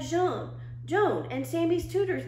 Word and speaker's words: jaune: The yellow the word for yellow is jaune, only I pronounced it Joan, like her name.